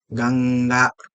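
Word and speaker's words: गङ्गा: So for example of this is Ganga. So although we write it like this Ganga, what we are actually pronouncing is this. This is Nga, Ganga, right?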